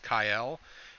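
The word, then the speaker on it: Kael: of kale who apparently his name is pronounced kyle and even in some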